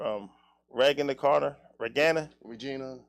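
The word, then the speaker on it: Reginae: rag in the corner regana Regina no it's pronounced like Regina or something like that but yeah for me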